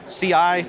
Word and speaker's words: Ci: as kind of the CI, but it's just pronounced C.